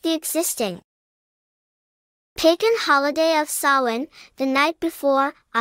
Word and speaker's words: Samhain: Its origins are often traced to ancient Celtic festivals, particularly the festival called Samhain, pronounced Sowin.